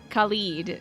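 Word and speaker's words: Khalid: border actually that's Claude but it's pronounced khed in amyra just like uh nadir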